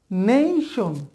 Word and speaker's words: nation: বলেছি যে এর উচ্চারণ এই হবে, তাহলে এ উচ্চারণটা হবে নেশন, নেশন।